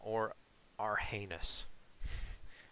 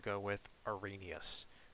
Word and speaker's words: Arrhenius: but trust me, it is not pronounced Arrhenius. Now, or Arrhenius, or anything like that. I'm pretty sure it is pronounced Arrhenius. That is the way that I have heard it pronounced before, and that sounds pretty good to me, so I'm going to go with Arrhenius.